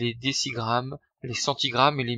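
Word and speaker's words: décigramme: s'écrire 47 dg mais on prononcera bien des six grammes et non pas des jets règles pour convertir en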